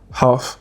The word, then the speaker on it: half: Pour le coup, ne prononcez jamais cette lettre. Ça sera calm et pas calme. Ça sera half et pas half.